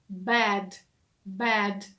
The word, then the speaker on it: bad: вимова відрізняється тому що прикметник поганий вимовляється зі звуком е bad bad - це широкий такий звук е а слово ліжко вимовляються